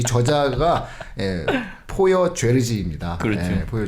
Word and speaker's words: 포여: 성이 포여고 이름이 죄르지. 그러니까 이름이 성이 예. 포여인데 이게 여기 발음으로 포여인 것 같아요. 뭐 그냥 영어식으로 읽을 땐 폴리어라고 읽고 포여라고 읽는 게 맞는 것 같아요.